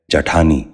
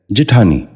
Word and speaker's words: جٹھانی: غور سے سنیے، جبر۔ چھٹا لفظ ہے جٹھانی۔ یہ غلط تلفظ ہے، درست تلفظ ہے جٹھانی۔ دوبارہ سنیے، جٹھانی۔ بچوں